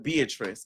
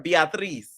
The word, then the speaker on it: Beatriz: Next, we have Beatrice, okay, or Beatriz. That's how she wants it pronounced.